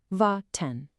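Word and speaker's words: warten: Ven pronounced vaten to wait.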